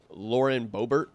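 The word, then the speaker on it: Lauren Boebert: so real quick I've tweeted about low and Lauren bobert is how you say her name before this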